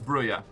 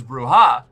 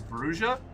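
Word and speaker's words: Brujah: Um, I originally thought it was Bruya. Then I thought it was Bruha because I assumed Spanish and is technically correct. But apparently the first edition Vampire the Masquerade book explains that uh the pronunciation in universe is Brua.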